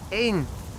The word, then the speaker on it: één: Echo November, in Dutch pronounced één, means one or a.